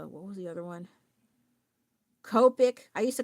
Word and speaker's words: Copic: donuts, you know, like no it's the Copic. And I I was like I don't like how that sounds. I like copic. But I know like in Japanese they pronounce O sound with O.